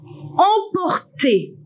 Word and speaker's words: emporter: Also, you can find the other ones like en, E-M in the word emporter.